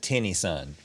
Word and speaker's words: Tennyson: the way you pronounce his name is just Tinny Son? Would that change anything? Yeah, I'm gonna say it's Tennyson, like Tennessee, Tennyson.